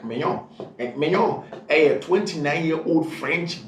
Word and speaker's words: Maignan: That's exactly how the name is pronounced. Mike Maignan. In English, we have Mike Magnan, but it's Mike Maignan.